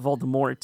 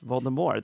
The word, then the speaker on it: Voldemort: Even whenever giving interviews, it's not Voldemort, it's Voldemort. The T is silent.